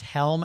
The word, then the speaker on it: Hjelm: I'll spell her last name, Hjelm, pronounced Helm, and her page will pop right up.